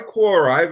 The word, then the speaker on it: Quora: I'm assuming it's pronounced Quora. It's Quora.